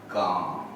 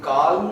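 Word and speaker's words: calm: तो A और N के बीच में जनरली अगर L आता है तो ये साइलेंट होगा, इसकी आवाज आएगी काम। इसे काल्म नहीं पढ़ेंगे, काम।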